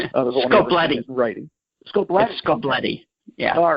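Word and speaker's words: Scoblete: part of that is Frank Scobletti, if I'm pronouncing his last name right. Scobletti.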